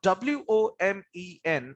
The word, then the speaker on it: women: it as woman now w-o-m-e-n is pronounced as women how do you